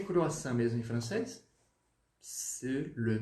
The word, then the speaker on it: croissant: Déchiré, croissant, croissant, tá bom? Então lembre-se, o AN no francês ele tem som de, como se fosse um on, tá? On. O outro tio aí e um biquinho.